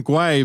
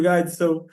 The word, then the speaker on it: Gui: Hey, I called him Gui. I called him Gui because his name is spelled G-U-I, and as like, it's funny in